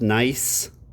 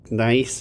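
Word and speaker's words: gneiss: This one has a silent G in the front of it. It's pronounced nice, but there's a silent G there. I'll say it nice.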